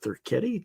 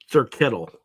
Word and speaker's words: Thurkettle: Is it Thurketti? Did I pronounce that right? No, Thurkettle.